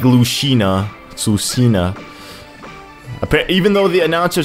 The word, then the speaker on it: Lucina: way I'll go with it Samus not like Lucina Lucina even though the announcer says Lucina it's it's still pronounced Lucina because of the game even though